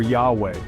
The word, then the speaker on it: Yahweh: Others argued, presenting compelling evidence and reasoned arguments in support of alternative pronunciations, challenging the established norms, for Yahweh.